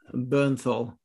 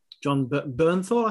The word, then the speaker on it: Bernthal: John Bernthal, who was the Punisher.